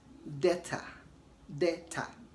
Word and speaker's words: debtor: Of course, debtor and not debtor. Okay, I've already said that the B before T is silent, so don't pronounce the B in debt and debtor.